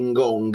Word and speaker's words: Ngonge: Io mi devo convincere di Ngong, e ogni tanto mi scappa ancora Ngonge con la pronuncia belga, e chiedo scusa.